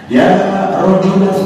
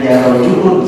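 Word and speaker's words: يا رجلاً: Di dalam ilmu nahwu dicontohkan seperti orang buta yang mengatakan ya rajulan khudh biyadi. Harus nasab dibacanya, jangan ya rajulun, salah.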